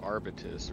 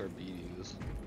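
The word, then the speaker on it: Arbites: how you pronounce that I always thought it was St adeptus arbitus or something but apparently it's adeptus Arbus interesting all we learn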